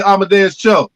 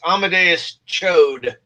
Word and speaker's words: Amadeus Cho: have him buff up and he could play amadeus you didn't say it right it's amadeus chode yeah but that would that would i mean